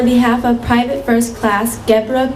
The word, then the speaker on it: Gebra: Gebra rhymes with zebra.